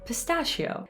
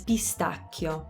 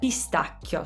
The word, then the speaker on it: pistacchio: word for this one in english we say pistachio and we actually spell it differently we only have one seed whereas in italian there are two c's so the way to pronounce that word properly is pistachio pistachio so again in english we say pe in